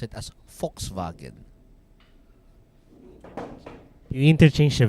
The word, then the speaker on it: Volkswagen: actually pronounce it as Volkswagen you interchange the v in the W but I'm gonna you you treat the W as a v a V and then you treat the v as an F Fox but it